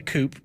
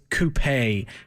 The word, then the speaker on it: coupé: Uh, I prefer the coupe, amazingly enough, to the convertible. Most, uh, most people tend to like convertibles a little more, but I actually I'm saying it wrong. It's coupé, and I'm sure Ian